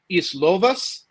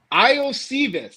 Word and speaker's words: Iosivas: or like a cheap week 1 flyer, Andre Islovas. I don't know if I said that right. He's going to be this. Iosivas.